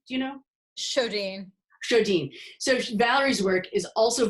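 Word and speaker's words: Sjodin: How do you pronounce her last name? Do you know? Shodine.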